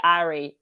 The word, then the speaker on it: Ari: I pronounce it in the French way, Ari.